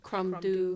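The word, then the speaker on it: Crom Dubh: I can't remember anything else off the top of my head, but Crumdu. Crumdu, yes. Although that one I would say is like pretty close to like what do is spelled D-U-B-H, but never like fucking mind.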